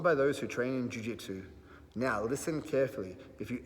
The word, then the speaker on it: Jiu-Jitsu: It's pronounced Jiu-Jitsu.